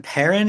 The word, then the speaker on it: Perin: So, it's Sam Parin. Is is that how you pronounce it?